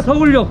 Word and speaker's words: Seoullo: I'm sure I'm not pronouncing that right, but maybe we can ask someone and rectify that. Seoullo? Yeah, Seoullo.